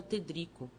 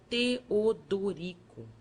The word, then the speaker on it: Teodorico: O padre triste perguntou-me o meu nome, que eu pronunciava Tedrico. O outro, amorável, mostrando os dentes frescos, aconselhou-me que separasse as sílabas e dissesse Teodorico.